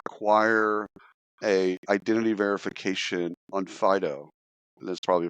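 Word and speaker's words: Onfido: it so uh acquire a identity verification on Pho that's probably pronounced incorrectly it's o n FID o so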